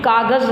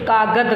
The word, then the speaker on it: कागज़: उच्चारण नहीं कर पाते, इसी तरह वो भी कागज़ ना कह करके कागद कह रही है, जा की जगह पर दा का प्रयोग कर रही है।